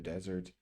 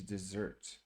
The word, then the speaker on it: desert: An interesting fact here is it really depends on how you pronounce this word. It will change the meaning if we're using it for a noun or a verb. So desert is the dry arid land, and desert is to leave or abandon someone. Okay, and so it's pronounced desert for the noun, desert, and then desert someone.